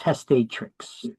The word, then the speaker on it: testatrix: Testat trx, but it's pronounced testatrix.